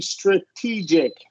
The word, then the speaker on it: strategic: when it's this word because of the IC ending this vow will be this syllable will be stressed it will be strategic oh strategic yeah strategic